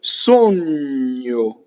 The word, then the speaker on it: sogno: Going on, we have had io, I, sogno. So the GN is like the GN in lasagna, right? Nyo, nyo. So you go n and then yo. Nyo. Sogno, closed O's.